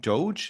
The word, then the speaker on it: DOGE: Whereas now, what's coming out of the policy changes in America, like if you're just following this whole, is it Doge? Is that how they pronounce it, Steve?